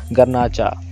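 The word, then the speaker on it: Garnacha: भी लिखा होता है, तो हम इसको गर्नाचा पढ़ते हैं, ठीक है, फिर गर्नाचे भी बोल सकते हैं।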